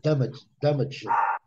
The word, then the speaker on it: damage: Então, mas, na verdade, esse E não é pronunciado, como não é pronunciado em love também. Então, na verdade, o som final da palavra, Vanderlei, é certo? É G, V. Tá vendo aqui? Então, é damage.